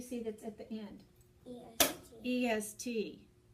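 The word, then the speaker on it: -est: It's a short E and then the ST.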